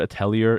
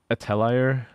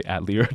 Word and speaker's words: atelier: in Japan but the the word atellia is like originally French so I go with like the f do do not say atlier.